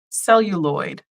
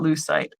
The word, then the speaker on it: celluloid: in the um and I said it wrong celluloid not loose site I apologize what's really